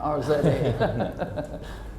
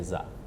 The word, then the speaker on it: Rza: not an Irish name, R-Z-A. It's Rza. Rza. If you can roll your R's, it's perfect. So Rza. If not, you can just say Za.